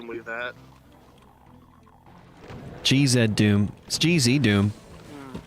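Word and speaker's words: GZDoom: that Doom gz Doom why are you adding all these extra syllables in g-z in Canada it's literally the yeah I don't I don't know anything about that it's literally the letter z it's not Zed Dragon Ball Z Dragon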